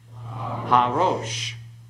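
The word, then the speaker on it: הָרֹאשׁ: So pronounce this one, rosh, and harosh.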